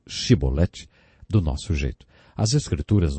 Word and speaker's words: chibolete: regiões do nosso país eles não conseguiam pronunciar o som o CH e por isso diziam simbolete ao invés de chibolete Jefté degolou 42 mil